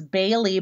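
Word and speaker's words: Baleigh: of the names is Bailey but it's spelled BA y le IG H sounds kind of like bay leaf and the name Casey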